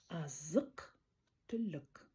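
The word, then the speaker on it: азық-түлік: Не К, а К. Не Х, а К. У, которая тонко звучит, и тонко звучит. Не И, а Азык түлік.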